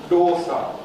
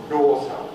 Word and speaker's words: доса: Тоже очень интересно звучит, тоже как звук «д» русский, да, но опять же мы украем язык в небо и произносим русскую звук «д». «Д». «Д». «Доса». Вот лепёшка южноиндийская, например, называется.